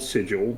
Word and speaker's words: Sigil: It is called Sigil, of course, but you pronounce it Sigil.